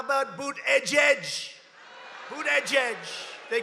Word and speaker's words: Buttigieg: How about Boot Edge? Boot Edge. They call him Mayor Pete. You know why? Because nobody can pronounce his name.